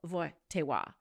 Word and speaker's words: Wojtyla: It's a Polish name and I think I just didn't do a great job of saying it correctly, but it is the same last name as the Pope. His name is Carol Vaywa.